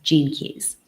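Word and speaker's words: Gene Keys: off track there's a surprise okay genan Keys it's spelled GE NE ke y s Jean keys and it's an incredible modality that marries many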